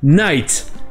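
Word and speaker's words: knight: Ensuite, vous allez entendre le mot night. Et ce mot a trois lettres muettes. Le K, le G et le H.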